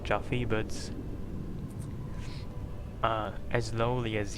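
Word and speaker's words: Yuffie: proper way to say her name is not jaffy but uh as lowly as yaffi or yui or JY any of those Abominations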